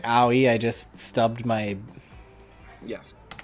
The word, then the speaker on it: Owie: to say her name her name is owie like like owie i just stubbed my